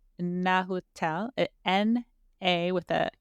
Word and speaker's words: Nahuatl: I forget how to pronounce it. It's Nahuatl, N-A with an accent, Huatl.